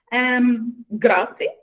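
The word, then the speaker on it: ґрати: And there's a H, which is kind of close to something like host. It's between G and H. It's quite difficult to pronounce. But it makes a huge difference because we have two words, for example, grati, hrati. So just one little sound makes a big difference.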